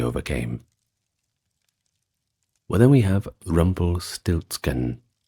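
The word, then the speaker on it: Rumpelstiltskin: Well, then we have Rumble Stiltskin, which is pronounced pretty much the same in German.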